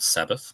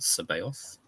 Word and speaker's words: Sabaoth: The Unpronounceable Colton with Haxon Sabaoth, not Sabbath, but Sabaoth.